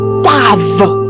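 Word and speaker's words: ת: Lorsque nous prenons la 6e lettre, elle se dit tave.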